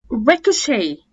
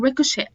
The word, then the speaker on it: ricochet: زي كلمة ballet، chalet اللي هو الشاليه، chalet, gourmet, rapport, ricochet. وريكوشي برضو التي ما بتتنطقش، بس في بعض البريطانيين بينطقوها ريكوشيت، بس عادي في الأصل لا، التي ما بتتنطقش في الأمريكان خالص.